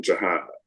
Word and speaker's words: Jihad: mine, they called him Jihad. His proper pronunciation was the correct pronunciation in the film, which is Jihad.